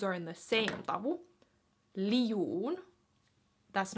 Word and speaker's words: liu'un: So the pronunciation of that word would be minä liu'un. Minä liu'un. Not minä liu'un. That's wrong. Liu, 2 vowels, un.